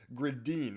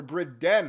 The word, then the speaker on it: Gridin: And the first man we're going to be talking about is Matvei Gridin, or Gridin, as I've been informed is how you pronounce it. So we'll say Gridin from now on.